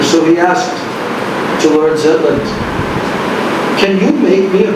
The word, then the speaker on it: Zetland: So he met with a person who was very aristocratic, Lord Zetland. You would say Jetland. That's how Bengalis and Koreans pronounce the Z syllable. They pronounce it J.